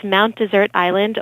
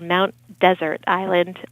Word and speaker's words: Mount Desert Island: there's one s but it was named by the French hence the the pronunciation yeah well that's interesting